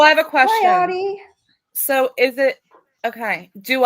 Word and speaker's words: Audi: Audie. So is it okay? Do I say Audie's Hi, Audie. name wrong, or is it my accent? It's Audi. Audi. I say Audi.